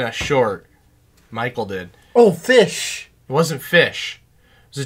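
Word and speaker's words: ghoti: G-H-O-T-I is pronounced fish. You have the G-H in rough. Rough.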